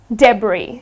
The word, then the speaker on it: debris: in spelt with an S but it's not pronounced that d'bries it is debris ok so if that powers would be pronounced